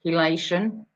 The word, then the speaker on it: chelation: huge that's that's how it's pronounced chelation but it's spelt e c-h-e a i think